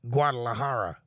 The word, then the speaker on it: Guadalajara: That's pronounced Guadalajara, Mexico. Yeah, it's kind of in the spelling. Gu-a-da-la-ha-a.